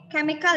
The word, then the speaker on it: chemical: Yani kau changers key you can say chemical ya bukan C bacanya pakai k technical change ulangi misalkan